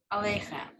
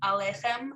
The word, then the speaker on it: aleichem: So the question is right, is the proper pronunciation of this aleichem or aleichem? I think the proper pronunciation is aleichem. So, but when we sing it, shalom aleichem, so we do put the longer, right, in the center.